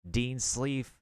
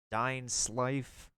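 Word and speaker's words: Dainsleif: Dain Sleef, Dain Slife. I'd probably pronounce like Dain Slife.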